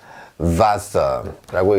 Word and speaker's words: Wasser: 그런데 이 녀석의 발음은 영어의 V 소리가 납니다.